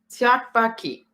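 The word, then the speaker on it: 떡볶이: It's been a long Tteokbokki. Mhm. And that's how you pronounce it. I've been practicing. Tteokbokki.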